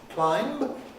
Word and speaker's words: climb: widely the case that this word locally is pronounced climb purely on the basis of the spelling because that b hasn't been pronounced in core english mainstream english for many many centuries it's just a funny